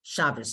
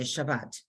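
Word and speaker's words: שבת: they don't do the they don't say Shabbos they say Shabbat even though it's spelled with the top okay here we go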